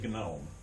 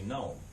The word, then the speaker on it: gnome: simply say nosis um we don't say gnome um those little yard things um we say we say gnome um but in Greek